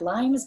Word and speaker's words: limes: So it looks like limes, but it's pronounced limes.